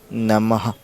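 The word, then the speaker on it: নমঃ: ভিডিওটি শুরু করা যাক বিসর্গ বিসর্গ সংস্কৃত ও এর উচ্চারণ হবে অর্ধহ যেমন যুক্তি সংস্কৃত শব্দ নম এটাতে সংস্কৃত উচ্চারণ হবে নমহ নাম নমহ এরকম ভাবে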